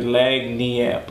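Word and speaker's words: lagniappe: Because it's spelled L-A-G-N-I-A-P-P-E. So it looks like Lagniap or something, but it's Lagniap. It's just okay. Lagniap. Lagniap. It's like a Creole term.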